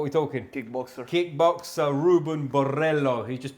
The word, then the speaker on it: Borrello: Kickboxer Ruben Borrello. He just pronounced it for me. Yeah. Did I pronounce it okay? Borrello.